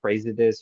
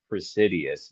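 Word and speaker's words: Praesidus: um the brand uh presidus or is it I think it's pronounced presidus even though the spelling looks like praise it is I don't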